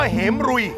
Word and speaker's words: เหมรฺย: ขอ โทษ บาง คน อ่าน ว่า เหม รุย เนื่อง จาก ว่า มัน มี ตัว พินทุ อยู่ ใต้ ตัว ร เรือ ครับ ภาษา ไทย ภาษา บาลี ถ้า ตัว ไหน มี พินทุ อยู่ ข้าง ใต้ ให้ ออก เสียง ตัว นั้น เป็น ตัว ควบ กล้ำ ออ อ่า อัน นี้